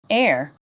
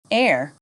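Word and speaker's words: heir: Silent H. Hour, honest, air. Repeat after me. Hour, honest, air.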